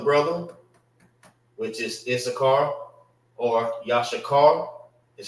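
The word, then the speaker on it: יששכר: name of the brother, which is Issachar or Yashakar, is how you say it in Hebrew.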